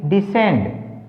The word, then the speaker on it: descend: SCEND असेंड, DESCEND डिसेंड, OBSCENE अबसिन, अब सीन। तो सभी में सी साइलेंट है, जब भी एस और सी इकट्ठे आगे सी का उच्चारण नहीं करना।